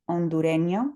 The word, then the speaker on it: hondureño: From Honduras, they would be hondureño. Remember that that H is silent.